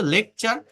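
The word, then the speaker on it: lecture: শব্দের শেষে যদি টি ইউ আর ই থাকে তার উচ্চারণ চার হয়।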